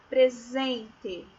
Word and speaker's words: presente: Presente. Olha o fonema do S, tá? O fonema é do Z, é o som do Z, tá?